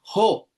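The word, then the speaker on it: ὁ: Y si nos damos cuenta, el espíritu que aparece sobre la omicron es el espíritu rudo. Así que se lee jo.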